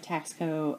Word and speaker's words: Taxco: Taxco has kind of been around for many years, and my first piece of Taxco, and that's how I pronounce it, is T-A-X-C-O.